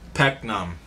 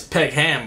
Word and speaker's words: Peckham: block pnam I'm thinking it's pekam but he's saying pnam pnam like the H is silent pnam or something like that where is what's up